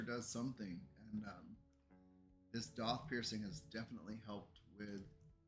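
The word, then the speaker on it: daith: It's pronounced Doth, my piercer.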